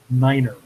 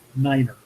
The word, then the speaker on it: niner: i said seven niner the correct way to pronounce a nine over the radio is niner usually each wing has